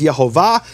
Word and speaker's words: Yehovah: We don't know what man, but he received this as a tradition that the true pronunciation of the name is Yehovah.